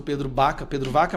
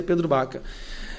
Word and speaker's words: Pedro Vaca: E nosso gabinete está em contato direto com o grupo do Pedro Baca, com assessores do Pedro Vaca, mas pronuncia Pedro Baca.